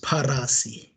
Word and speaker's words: Parasi: please correct me okay when i lived in zimbabwe there were about 10 pronunciations of my last name but the correct the correct pronunciation is parasi parasi thank you very much